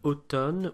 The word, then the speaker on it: automne: You'll notice in the word automne we have MN, which in this case is just pronounced as an N sound, but really that's just an exception that you have to learn.